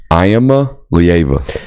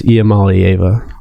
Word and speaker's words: Iamaleava: Iamaleava. Break it down like that. On SEC they were pronouncing it as Iamaleava.